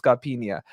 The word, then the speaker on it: Scarpinha: It's a bit of a "y" at the end, isn't it? It's Scarpinha.